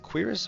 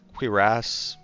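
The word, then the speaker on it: cuirass: Uh, is it Quiris or I think I think there's multiple pronunciations. Quiris or Quirass, whatever.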